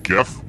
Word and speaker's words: GIF: i stand for in gif and yes i pronounce it with the g sound not the j who picked this which